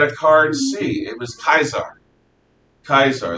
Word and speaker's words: Caesar: caesar they didn't say caesar they had a card see it was kaiser kaiser that's the actual pronunciation that romans would have used uh let's see caius